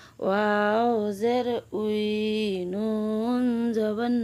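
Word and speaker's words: واو: ওয়াও তার নাম ওয়াও ওয়াও উচ্চারণ কেমন হবে ওয়াও দুই ঠোঁটের মাঝখানের ফাঁক থেকে আদায় হবে নইলে বা অক্ষর আদায় হয়ে পড়া হারাম হয়ে যাবে খাড়া বাঁকা চিহ্নের এই জায়গায় সাবধান হও বা অক্ষর আদায় হয়ে যেতে পারে ওয়া জবর ওয়া ওয়াও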